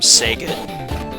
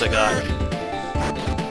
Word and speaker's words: Sagat: to always call him Sega I think it's supposed to be pronounced seot but um he will